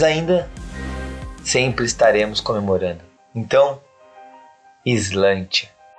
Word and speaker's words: Sláinte: Sim, está começando a saga mais ao sul da Patagônia, Islândia. Islândia.